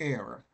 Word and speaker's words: heir: 말하기를 this is the heir 이 H는 묵음입니다.